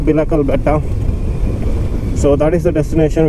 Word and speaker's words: Bilikal Betta: The destination is Bilikal Betta. Is it Bilikal Betta or Bilikal Betta? In Kannada, it's pronounced Bilikal Betta.